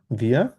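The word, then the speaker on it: wir: বিয়া বিয়া bond in Dhaka. বিয়া, আবার বলেন। বিয়া বন্ড ইন হুম, ঢাকা। হয়নি, আবার। ভিয়া ভোনেন।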